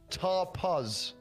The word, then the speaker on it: tapas: stopping how you stop i wouldn't use the british pronunciation for this one to be honest here we go tar pause yeah click it but